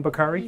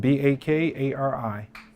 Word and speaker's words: Bakari: Bakari? E-B-I-N? Nope, IBN. I-B-N? Mm-hmm. And you pronounce it? Yes. And Bakari.